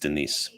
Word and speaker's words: Denis: Denise, it is a guy, but it's pronounced Denise.